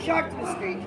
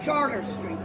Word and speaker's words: Chartres: I'm standing on not Chartres Street, but Charter Street.